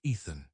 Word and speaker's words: Ithan: Yes, ill name the book from him, Dice of Ithan, pronounce Ethan.